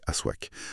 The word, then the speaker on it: Aswak: Aujourd'hui, on décortique les données, les révélation du numéro 008 du magazine Aswak 9 à prononcer Aswac paru en avril 2026.